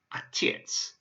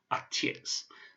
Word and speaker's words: Отец: So this word here is pronounced Отец. Отец. So Отец is the Russian word for father.